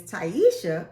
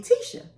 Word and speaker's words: Tyesha: So when I moved to Alabama, my name is Taisha. A lot of my family couldn't pronounce it, refused to pronounce it, used to call me Tisha.